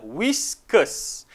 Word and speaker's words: whiskers: sebut ketemu katanya Lah whiskers Which Oke The Blue Eyes qrs sebuah betul-betul whiskers Oke walaupun terdapat huruf r pada ejaan whiskers kita tidak sebut kita silentkan huruf a